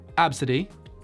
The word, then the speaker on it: Abcde: one of course for the weird ones is pronounced absidy which is spelled abcde abcde see the thing